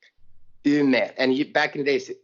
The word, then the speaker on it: Umeå: because the city where we live is called Umeå. Umeå, and back in the days it's spelled U-M-E.